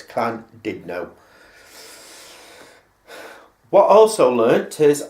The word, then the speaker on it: Llandudno: Keep wanting to say Llandudno because that's how it's spelled. Double L, but it's Llandudno.